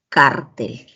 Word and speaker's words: cártel: El acento en cartel está en la última sílaba, mientras que en cártel en la penúltima sílaba.